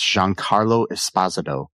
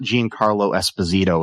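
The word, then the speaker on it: Giancarlo Esposito: McInley as Davis Rig Lanllo, Jean Carlo Espazado as Charlie Dunt, and I'm going to repeat that. That's Jean Carlo Espazado, not Jean Carlo Espazito as a lot of people want to say, but yeah.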